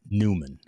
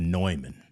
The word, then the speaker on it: Neumann: say it right too it's not newman it's the neumann you got to get that low inflection in your in your eu neumann okay uh you know